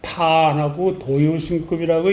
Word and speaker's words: 탄도유심급: 그러기 위해서는 자기를 비워야 되는데 오늘 탄도유신급을 좀 읽기로 한 거는 이제 그 탄도유신급을 읽을 적에 탄도유신급이라고 탄하고 도유신급이라고 읽어야 됩니다.